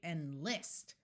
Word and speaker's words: enlist: so we have enlist notice we don't say enlist that would have the first syllable accented we say enlist where the second syllable is emphasized and spoken a little bit louder import indeed incite invite